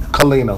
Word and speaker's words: Colina: good you saw great great start the correct pronunciation of your name George come clean up clean kalenna all right so that is chief first off